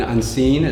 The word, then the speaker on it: UNSCENE: You'd find Unseen, just type in Unseen, Z-A, but it's spelled UNSCENE. So Unseen, get the pun.